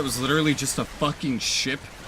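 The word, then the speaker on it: シ: How do you pronounce that letter in Japanese? Shi. Okay, cool. We're gonna call it Ro. But it's pronounced Shi.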